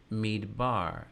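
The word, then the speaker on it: מדבר: Or look here for midbar, midbar. The letter beit after this shavanach, midbar. You need a strong dagesh in there to give us a strong B sound for desert or wilderness.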